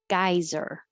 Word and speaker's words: geyser: cat that visited today geyser this is look it looks weird g-e-y but it is guy geyser old faithful is a